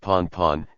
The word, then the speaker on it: Pan: Pan, pronounced pon, is the voice radio signal for urgent, while Mayday is the voice radio signal for distress.